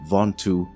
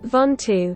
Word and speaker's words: Ventoux: Yes, it's pronounced Ventoux according to Google. Ventoux.